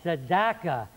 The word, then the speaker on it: Sedaka: many times I can't they will learn how to pronounce it it's sadaqa Brooklyn New York tiny